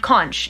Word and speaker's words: conch: um a conch shell it's the ch if you you pronounce uh which with the word conch yeah so it's not a conch shell it's a conch shell